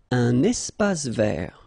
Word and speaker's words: espace vert: Un espace vert. First thing, you've got this little link between the two. Un espace vert. Final E not pronounced, and then final T not pronounced.